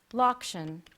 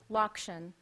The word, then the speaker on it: lokshen: Your word is lokshen. Natalie loves kugel made with lokshen and ricotta cheese. Lokshen. May I have the definition, please? It is a plural noun meaning noodles. Lokshen.